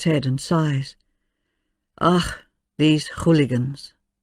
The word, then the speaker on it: hooligan: Ach, these hooligans. Pronounced hooligan, a loan word very common in Russian, used for scoundrels, louts, ruffians.